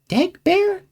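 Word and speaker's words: d'Egbert: Essence Dagbert. Dagbear? What? No, like the French pronunciation.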